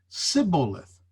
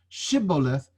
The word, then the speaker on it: Shibboleth: But he said, that is the Ephraimite, Sibboleth. Did you get the difference? Shibboleth versus Sibboleth. For he could not pronounce it correctly.